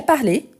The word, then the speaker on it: parlé: Vous voyez que je ne prononce pas les E à la fin. Je parle. Mais quand je dis j'ai parlé, et ça se répète pour tous les verbes qui finissent en ER. J'ai parlé, donc c'est le participe passé. La prononciation, donc je dois bien prononcer le « et » à la fin. Parler, donc il y a toujours l'accent aigu.